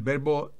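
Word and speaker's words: bath: bueno qué bueno miremos otros verbos regulares el verbo To beis bañarse pero si le quitamos la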